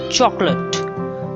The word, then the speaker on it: chocolate: tortoise tortoise tortoise tortoise chocolate chocolate not chocolate or chocolate it's chocolate chalk lut chocolate dessert dessert it means